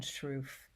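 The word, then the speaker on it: Sroufe: their longitudinal studies on attachment it was Alan struff and that's spelled s-r-o-u-f-e um and he's from Minnesota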